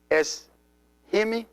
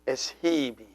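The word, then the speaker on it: ⲥϩⲓⲙⲓ: And it is es-himi, not es-hibi.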